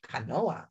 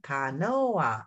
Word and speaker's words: canoa: Canoa. How many syllables? Put your hand under your chin. Canoa. Oh, in Spanish, it has three syllables.